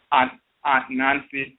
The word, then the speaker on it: Anansi: In America, Anansi and Anansiwa became pronounced Aunt Nancy, like Aunt or Aunt Nancy.